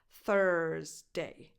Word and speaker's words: Thursday: So you start with a voiceless th, as in the word think, and then you say ers, like hers, but without the h. Thursday. That's the same vowel sound that you have in words like person, perfect, bird, first. Thursday.